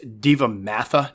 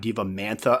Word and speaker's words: devamatha: n in there but it's diva matha or devam yeah diva mata sounds good so i apologize if